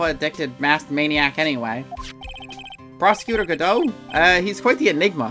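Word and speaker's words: Godot: dot dummy I don't because I know it's pronounced gdau and also there was a joke about the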